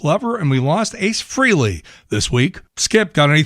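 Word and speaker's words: Frehley: Freely, which is correct back then. sometime around the mid80s got down amongst everybody that we we needed to pronounce it Freley and I think it's because he had that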